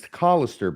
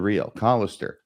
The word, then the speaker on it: Callister: mean that t and it's collister by the way you habitually mispronounce his last name I think I've corrected you on this before Mr real cister we wouldn't want you have you accused of being racist against him or anything like that by mispronouncing his name so Tad collister uh